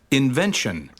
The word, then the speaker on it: invention: column two please repeat invention invention assignment assignment computer computer you see again the second syllable is carrying the main stress it says invention assignment